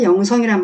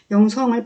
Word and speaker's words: 영성: 그게 실은 맞는 발음이에요 언어학 적으로는 어떤 특성을 말할 때 성격을 말할 때 그 성을 된 소리로 발음하는게 맞아요 받침이 있을 때 이런